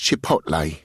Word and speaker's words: Chipotle: It's pronounced Chipotle, Will, Sasha informs me, her voice laced with an increasing level of impatience.